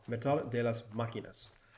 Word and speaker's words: Máquinas: Metal de las Máquinas. That little accent mark over the vowel tells you where the accent should go.